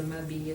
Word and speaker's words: m'habille: And here for m'habille, you can actually connect the two. Since H is considered to be like a non-letter, we don't pronounce it at the beginning, you can just hook it together.